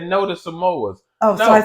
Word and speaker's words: Samoas: me she said say she said no to samoas oh so I said the name right you